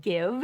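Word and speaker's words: GXVE: According to page 6, it is pronounced Give, even though there's a weird random X in there.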